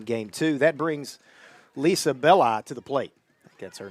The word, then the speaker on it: Belli: That I is a long I.